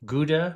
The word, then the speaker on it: Gouda: cheeses, hard cheeses especially, Gouda cheese or Gouda cheese is how the Dutch pronounce it, Jarlsberg cheese, Emmentaler cheese,